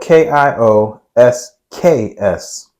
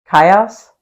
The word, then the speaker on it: kiosks: no I'm not so it's spelled k IO s KS Kos no it's kiosks kiosks who cares me